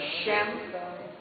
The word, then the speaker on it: Sem: Um deles se chamava Sem, e que também se pronuncia como Shem, né, em hebraico, Shem.